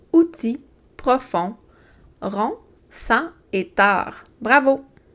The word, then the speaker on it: tard: Tard. Tard, c'est un adverbe. C'est un mot qui est invariable. Il s'écrit toujours de cette façon-là. Et il y a un D muet.